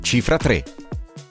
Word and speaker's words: Cifra: This is how you pronounce the name of the holy grail of flip clocks in Italian. Solari Udine Cifra 3.